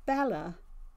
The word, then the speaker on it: Bellah: down if you can see it it's called Bella and it's by Linda Farmer Bella is spelled b-e-l-l-b-e-l-l-a-h into pharmaceuty I saw it on